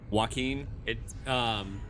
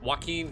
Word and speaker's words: Joaquin: Joaquin. Joaquin Phoenix is like Joaquin.